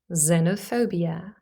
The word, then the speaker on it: xenophobia: be pronounced number three x could also simply be pronounced as the sound Z but this only happens when X is at the beginning or the end of the word first of all at the beginning for example in the word xylophone xylophone or as in xenophobia xenop phobia or it